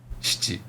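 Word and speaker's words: しち: Shichi.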